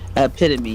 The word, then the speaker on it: epitome: epitome ome by ep it's not epitome is it am I saying it wrong epitome yeah I am saying it right it just doesn't look